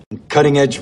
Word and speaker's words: cutting edge: When pronouncing this word, the stress is going to be on that first syllable. And that T, I am going to pronounce this as a flap T, which is very common when talking about the American accent because that T comes between two vowel sounds.